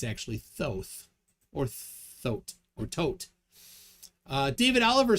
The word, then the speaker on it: Thoth: we got uh corbinx's thoth is pronounced tote h's are silent in